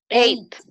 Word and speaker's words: ate: ley muy bien mis hate que pronunciamos como el número ocho allá y se escribe sí atech vaya por así decirlo pero se pronuncia como el número 8 entonces hay dinero y